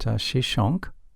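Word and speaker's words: Shoshenq: Another major military conflict involved Pharaoh Shishak, whose name is pronounced Shishonk, in the 10th century BC.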